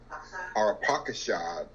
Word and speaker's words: Arpachshad: Shem's first son, Arpachshad is actually how his name is pronounced.